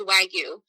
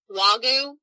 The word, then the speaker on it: Wagyu: of different places the way it technically is pronounced is wagyu you'll have some people call it wagyu but i think a lot of that comes